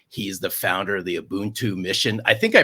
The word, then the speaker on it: Ubuntu: He's the founder of the Ubuntu mission. I think I pronounced that right.